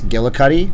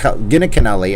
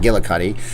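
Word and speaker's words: Giunchigliani: she defeated uh chris gillicutty ah i said it right boom by the way cr chris gina gina canelli i kept said it wrong again it's not gilla cutty she went on to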